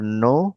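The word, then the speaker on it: know: Uh no like K N O W the K is the silent letter knife.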